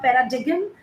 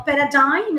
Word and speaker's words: paradigm: conspicuous you should know I'm breaking the word going slower so that you should know the pronunciation also 24 paradigm it's not paradigan uh paradigm is also a noun